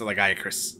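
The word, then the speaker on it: Lagiacrus: Not Lagarius, Lagiacris.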